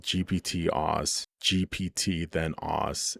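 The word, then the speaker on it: gpt-oss: The model is called GPT-Oz, GPT then Oz. It rhymes with boss.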